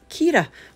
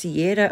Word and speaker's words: Chiara: current storm is called Chiara an Irish name pronounced Kiera well there you go I was pronouncing it wrong I wasn't sure if it was Ciara or Cara or well there you go is Keita so